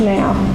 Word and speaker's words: Nao: the now robots and it's Nao is pronounced now she was using the